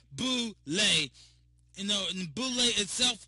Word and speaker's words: Boule: it says it pronounced Bole b o o then it has a dash l a y Bole you know and Boule